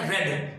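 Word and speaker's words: read: हम लोग लिखते रीड ही है लेकिन पढ़ते हैं रेड, यानी कि फर्स्ट फॉर्म होती है रीड, सेकंड फॉर्म होती है रेड और थर्ड फॉर्म होती है रेड।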